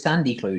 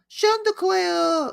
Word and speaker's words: Chanticleer: I know, but he says Sandy Clue, doesn't he? Well, he has like a little kid voice that can't pronounce things, and it's meant to be really cute. When I was a little kid, I could pronounce things. Chanticleer.